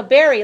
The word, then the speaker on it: buried: buried me you are why is the verb Barry and buried as B you are ie D so Barry like if you dig